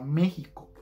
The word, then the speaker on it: México: enteras si se fijan aunque texas está escrito con x en español se lee tejas igual que la palabra méxico que aunque se escriben con x se leen como si tuvieran una jota luego seguimos con el